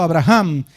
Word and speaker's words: Abraham: Señor por la fe Abraham o mejor pronunciado Abraham quien había recibido las